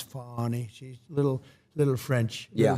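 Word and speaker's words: Fani: Tre you very unfairly she goes by the name of fonny even though it's F A ni I she wants to pronounce fny she's little little French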